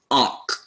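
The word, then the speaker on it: onych: Onc. This is pronounced onc. The Y is just a pronouncing vowel, or I'm sorry, just a silent vowel. It's onc.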